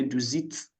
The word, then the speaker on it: du sitzt: It's not zist. Sometimes if the T is at the end is halfway to pronounce, just say du sitzt. The T at the end. If it's halfway to pronounce, you can just no problem. Du sitzt. Du So siehst. not du siehst. You are saying z. Du sitzt. It's not E, it's a short E.